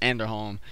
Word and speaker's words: Anderholm: That's how you pronounce it, Anderholm.